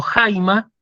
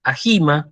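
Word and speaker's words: αἷμα: segunda vocal del diptongo pero se pronuncia en la primera por esa razón yo digo jaima y no ahy más por ejemplo por eso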